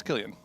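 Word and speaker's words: Cillian: How do you pronounce his name? Sicilian. It's Killian.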